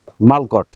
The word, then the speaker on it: Mulct: দিতে হবে হ্যাঁ ওকে এম ইউ এল সি টি মালকট উচ্চারণ হচ্ছে মালকট হ্যাঁ মালকট মালকট মানে